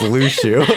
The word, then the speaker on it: Luxu: Lushu is the most ancient name. It's not that hard to say. Just don't think of how it's spelled.